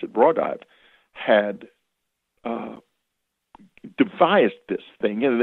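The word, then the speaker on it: Raudive: And in case, he was explaining that this man called Konstantin Rodive, he pronounced it Rodive, had devised this thing, and it was a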